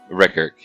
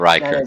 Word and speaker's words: Rickard: Rickard. Rickard. That's right. I remember, like Blade Runner. Not Riker.